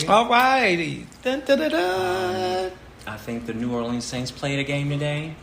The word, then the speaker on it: New Orleans: who are here is new orleans it's three-syllable but the people who are like not from here is new arlene you know how about